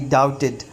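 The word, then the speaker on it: doubted: बट, लेकिन आई डाउटेड, ये पहले भी किसी सबक में मैंने बताया कि ये डाउटेड नहीं है, दरमियान में जब भी बी टी इकट्ठा आ जाएगा तो बी जो है वो साइलेंट हो जाएगी।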